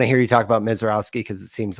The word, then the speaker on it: Misiorowski: of teased out, Jacob Misiorowski. Misiorowski? Yeah. I've heard Roski on video, but maybe the minor pronunciation was a little off. I've always heard that with the Polish influences, Owski.